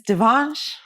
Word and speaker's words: Devansh: month ago yeah approximately and your name is Devon yes oh my God this is correct just making sure I pronounce it correctly and uh so tell me Devan how did you find out about Sunday slips